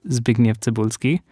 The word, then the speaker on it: Zbigniew Cybulski: Maciej is played by Zbigniew Cybulski, who is... Good pronunciation.